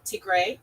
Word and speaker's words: Tigray: Tigray. Tigray.